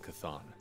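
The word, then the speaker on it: Chthon: that we will all prevail over Lilith and C'thon. Okay, so it's pronounced C'thon.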